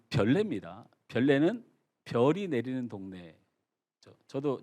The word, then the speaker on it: 별내: 이걸 벌레라고 발음하는 이 못된 사람들이 많은데요. 이 별내입니다.